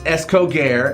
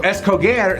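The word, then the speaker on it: escoger: So, the first word we're going to memorize is escoare. And it means to choose. Escoer. Whatever she said. So, escoare sounds like it's cold there.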